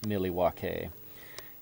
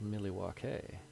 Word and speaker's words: Milwaukee: Yeah, every time I read Milwaukee, I read it Milwaukee, and I'm always thinking it from Wayne's World. Actually, it's pronounced Milwaukee. I'll just clean that out.